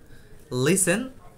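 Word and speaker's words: listen: দেখে মুখস্ত করলে হবে লিসেন আছে ক্যাস আছে যাই হোক এগুলার টি এর উচ্চারণ হবে না।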